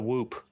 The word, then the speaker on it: whoop: Can you teach me and Jake how to whoop? Oh, yes. I love this. Okay. There's no P. You don't pronounce the P. Whoop. It's more. Oh, there's no P on the end.